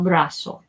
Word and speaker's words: brazo: vibrations with Z's either it's not Brazil it's Brussels so it has an S sound here and I use pink again El brazo El brazo I bet